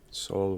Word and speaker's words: Saul: S-A-U-L.